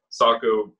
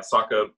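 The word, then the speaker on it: Sacha: then he also got always mispronounced this dude's name it's uh sako versus yeah saka baron cohen uh the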